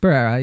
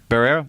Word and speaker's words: Barrera: Ramos and Melissa Barrera, or how do you pronounce her last name? Barrera? Barrera, yeah. Barrera.